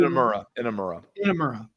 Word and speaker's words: Inamura: was like, who in the hell is Yoshiki Inamura? I believe that's how you pronounce his name. Like, who in the hell is this guy? I know Josh Briggs, but I had no clue. Inamura.